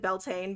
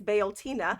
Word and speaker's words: Bealtaine: I would pronounce it Beltane, but that's not correct. It's Bealtaine.